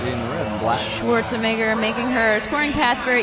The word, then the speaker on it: Schwarzenegger: I love that you do an Austrian accent every time you say her name. That's how you're supposed to say it, you know. Schwarzenegger, I kill you.